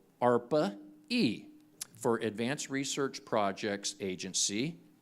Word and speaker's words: ARPA-E: is an agency called arpa-e for Advanced Research Projects Agency energy and ARPA rhymes with darpa okay which is the